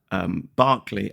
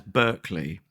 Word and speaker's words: Barclay: But in the process, I mispronounced the name of the composer, Barclay, as Berkeley.